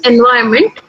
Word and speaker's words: environment: But if you take this word, like, this word is environment, if you can see it on your screen, environment, but many pronounce it as environment. Now, nobody corrects them. I have not seen many people correcting them. Even I don't correct sometimes, because unless I feel that person will take my correction, I don't correct it. I hear even colleagues say environment, but the right pronunciation is environment.